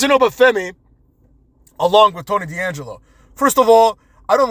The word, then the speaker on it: D'Angelo: So after an apostrophe, you say D'Angelo. That's how you pronounce it in Italian.